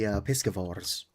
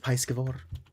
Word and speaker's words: piscivore: Yavali, or the Avali from Yapalo, are primarily piscivores. Which, yes, that's what it's called. Could be pronounced piscivore, like Pisces. Pretty sure it's piscivore, though.